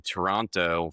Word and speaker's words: Toronto: Um, well, that we have to just fix your your American pronunciation of Toronto and you just have to drop a second T.